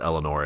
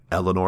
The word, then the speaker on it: Alienór: I believe it's pronounced Eleanor. It's spelled like the word alien with OR at the end.